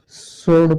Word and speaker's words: sword: देखिए एस के बाद डब्लू आया है, ये चुप है, इसको हम क्या पढ़ते हैं? सोर्ड पढ़ते हैं।